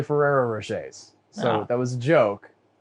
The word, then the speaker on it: Ferrero Rocher: Is he the guy who makes those Ferraro Rocher candies? I don't know what those are. Oh no! Reference goes over my head, bud. Okay, well, I mispronounced the name because it's actually Ferrero Rochers.